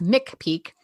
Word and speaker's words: McPeak: a K and it's mck Peak so like Pikes Peak but it's mck Peak um I'm on the